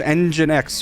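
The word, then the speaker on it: nginx: right here um yeah I use engine X for the server which is spelled n X um and I use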